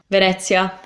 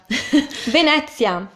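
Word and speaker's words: Venezia: oh sure man this sounds shorter second one Vanessa Vanessa Vanessa which would be Venice in English an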